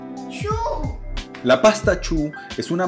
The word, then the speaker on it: choux: No, no, no, no, es que se pronuncia así, se dice choux.